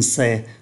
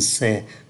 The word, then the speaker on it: sait: Ở thì hiện tại, je sais, tu sais, il sait, nous savons, vous savez, ils savent. Ba ngôi số ít cũng phát âm giống nhau nhưng mà viết khác nhau.